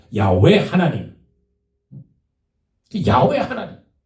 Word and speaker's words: 야훼: 그게 여호와 그랬는데 사실은 여호와가 아니고 야훼잖아요. 야훼 하나님.